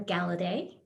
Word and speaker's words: Galladay: ray with my husband devin galladay the handsome she pronounced my last name correctly so yeah i'm one